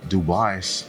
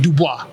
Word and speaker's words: Dubois: Um and I remember seeing uh Dubai, how do you say it? Dubois.